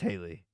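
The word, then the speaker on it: Halle: chick's name is Haley I wonder if that's how you pronounce it hiy or Haley Bailey is her last name though okay it's Haley okay so Haley Bailey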